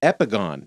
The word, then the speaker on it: epigone: I Googled it and the Google pronunciation is epigon epigon and I was like